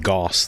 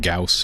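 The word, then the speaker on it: Gauss: like rail gun basically to me I've always pronounced it Goss though but I guess I'll start saying it gaus if I can remember okay so any more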